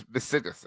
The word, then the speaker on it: Visigoths: This is Visigoths. That's how it's spelled.